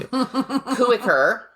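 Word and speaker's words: Kooiker: this name up too kucker k o o i k r probably that it's just like Jody's name and the I isn't even pronounced CER who had worked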